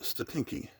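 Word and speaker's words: Stotinki: It is 50, I think that's pronounced Statinki, from 1974.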